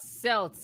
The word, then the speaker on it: Celts: You all were rambling about Celts and other stuff.